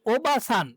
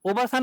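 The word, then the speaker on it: おばあさん: কিন্তু এই যে দেখেন, ও বা আ, ওবাসান, এটা ন। তাহলে এই যে ওবাসান, তাহলে ও বা আ, এই যে এখানে দেখছেন না আ, এ আটা হচ্ছে একটা টানের কাজ করবে। ও বা আ সান হবে না, কি হয়ে যাবে?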